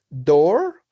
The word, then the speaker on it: door: Bueno, estas palabras con doble o casi siempre se pronuncian como si fuera una u, pero está la excepción del door y está la excepción de, ah, vamos a abrir aquí del piso.